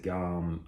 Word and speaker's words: GOM: be reviewing this g-maid gome i think i'm pronouncing that right some guys pronounce it gum i think i read somewhere that it is pronounced gom uh i think it means bear in korean um but not really